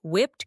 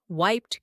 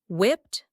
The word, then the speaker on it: whipped: That is whipped cream. Be careful with the pronunciation. It is not wiped cream. The H is silent, but the vowel is short. Whipped, whipped cream.